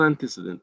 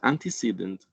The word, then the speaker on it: antecedent: And please don't pronounce this word antecedent. It's not antecedent, it's antecedent.